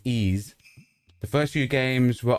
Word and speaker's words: Ys: It's called Wise and it's pronounced Ease. Okay. So, it's pronounced Ease.